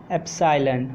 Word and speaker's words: epsilon: So hello, I got that cursive capital E is pronounced as epsilon.